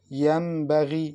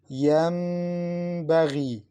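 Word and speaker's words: ينبغي: Listen, Yambaghi. Don't say Yambaghi, no. You must prolong it. Yambaghi. And to make some vibration in your nasal passage when pronouncing it.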